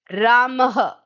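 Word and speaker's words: रामः: So, this dot is spoken like if you just speak it, it sounds like a ha.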